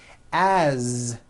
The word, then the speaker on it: as: his mom is Mary as you pronounce it with a voiced Z as the phone rang